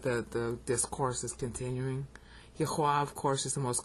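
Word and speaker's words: Yahweh: the sacred Tetro grammaton people think it's Jehovah that's a bunch of baloney the actual spelling Jehovah is only in the Bible like 49 times over 5,000 times it's spelled yaha right here is one of them okay so if you want to figure out the real name for God that's the sacred tet griton it's yahwa and it's vow pointed as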